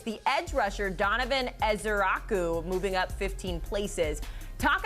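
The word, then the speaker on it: Ezeiruaku: spots and instead it's the edge rusher Donovan Ezeraku moving up 15 places. Talk us through the movement here with those two guys in particular. Yeah. Hey Haley, A+ on the Donovan Nezaraku pronunciation.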